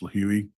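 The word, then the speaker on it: Lihue: from Phoenix to lih which is I believe it's pronounced leui Hawaii on the island of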